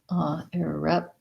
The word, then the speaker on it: irreparable: We have second syllable stress. So irreparable. We have the I sound. So an unstressed I, and then rep has the red tent vowel, just like the word red.